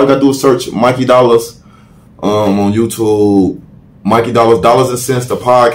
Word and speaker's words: Mikey Dollaz: spelling my name wrong it's not Mickey dollars it's Mikey dollars m-i-k-e-y-d-o-l-l-a-z what about Twitter